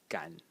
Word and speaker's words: 感: in this character and if you look at the pronunciation today the pronunciation of the phonetic element so of the blue one is shin and of the character as a whole is Gan so the rhyme or